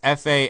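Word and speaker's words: Efe: This guy Ambrose, I'm telling you, F.A. Ambrose, E-F-E, I'm sure somebody from Nigeria is going to call in and say, that's not how you pronounce it. It's F.A. Ambrose.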